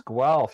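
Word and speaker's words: Guelph: what it's called it's gal you pronounced it correctly yes it's the the the spelling looks like you might have to sound like a cat with a hairball to pronounce it but yeah yeah it's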